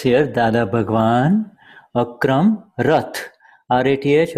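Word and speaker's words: Rath: R-A-T-H or it's pronounced Rat.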